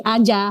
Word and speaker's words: Azza: Makanya dikasih nama kopi herbal di kopi aja, maksudnya di semua situasi. Berarti Aza ini bacanya aja.